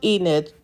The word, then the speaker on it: Enid: Yes, pronounced Enid.